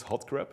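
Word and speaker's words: HotCRP: bug and and yeah you pronounce this hot crap there's this conference management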